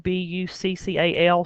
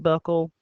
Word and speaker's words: buccal: There's a term called buccal, B-U-C-C-A-L. Some people pronounce it buckle.